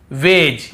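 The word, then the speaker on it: wedge: फिर देखिए हेज और वेज, यहां पर भी डी को हम नहीं पढ़ रहे हैं, ब्रिज, एज, हेज और वेज।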